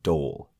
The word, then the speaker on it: Dole: Our story takes place during the 1570s in the small town of Dole, D-O-L-E, in France, located in the Franche-Comté region, and I did look up the pronunciation on that.